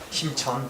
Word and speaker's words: 심천: 심천. 네. 사실 저는 이렇게 심천 뭐 등소평 이렇게 하는 게 좋은데 국립국어원 규정상 뭐 이상한 규정이 있어가지고 중국식 발음을 읽으라고 하는데 모택동 심천 이런 게 멋있지 않나? 아무튼 뭐 이 심천시의 경제특구